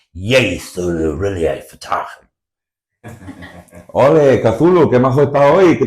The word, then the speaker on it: Cthulhu: No one knows. Cloy. Yeah, I think there is no consensus on how to pronounce Cthulhu. Cthulhu. Many different opinions. I'm just going to call the big green guy Cthulhu because it's clearer that way.